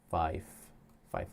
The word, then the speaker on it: Fife: Fife Lake. Rhymes with life.